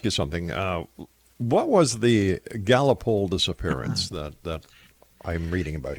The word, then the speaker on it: Gallipoli: And what it was is it's actually, I think, pronounced Gallipoli. It's a place in Turkey.